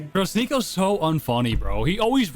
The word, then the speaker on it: Sneako: Alexis, you call me Sneaky. Listen, I'll see you tomorrow. Sneaky. Sneaky. Sneaky. Hey, hey, hey, hey. Come on, Alexis. Say my name. Bro, Sneo's so unfunny, bro.